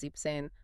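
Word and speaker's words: siebzehn: If it feels like you're stumbling over extra consonants, you probably need to drop something. So 16 is xane and 17 is zipane.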